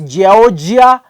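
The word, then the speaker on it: Giorgia: you pronounce this name Georgia Melone g i o r g i a I don't know it's giia melan from Italy I saw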